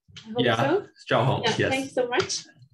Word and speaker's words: Zhaoheng: Did I pronounce correctly your name? Zhaoheng.